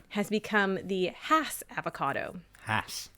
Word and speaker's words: Hass: Hass. Hass. Hass. Rhymes with pass.